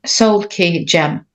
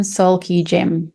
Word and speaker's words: SoulKeyGem: So can you please call out the pronunciation of your website name? SoulKeyGem. So say it again, SoulKeyGem.